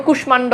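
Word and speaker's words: কুষ্মাণ্ড: ও সংস্কৃত রীতি অনুযায়ী মানে কিছু কিছু সংস্কৃত শব্দ মফালার উচ্চারণ অবিকৃতই যেটা কোন নিয়মই নাই যেমন কুশমান্ড এই যে সংস্কৃত শব্দ মফালার উচ্চারণ যুক্ত রয়েছে ঠিক আছে তো এই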